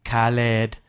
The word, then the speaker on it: Khaled: say so there you have it folks I pronounce it correctly Khaled and odor my Twitter and follow me if